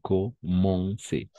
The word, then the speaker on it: commencer: Commencer. Commencer. Con lo que dijimos justo aquí al lado, ¿no? Esas combinaciones de letras van a ser on. Commencer. Très bien. Elle commençait souvent par. Très bien. Comenzaban. Commencer.